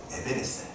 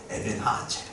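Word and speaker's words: 에벤에셀: 이름하여 에베네셀, 더 정확하게 발음하자면 에벤하아첼.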